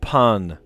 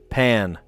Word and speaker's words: pain: Pronounced not like the English word pain, like hurt. It's more like the English word pan. Pan.